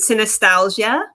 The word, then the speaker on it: Synesthesialgia: oh yes yes okay so i pronounce it synostasia and part of the reason why i pronounce it that way too is just because i wanted it to kind of have like a similarity to nostalgia because a lot of nostalgias dealt with in this book in terms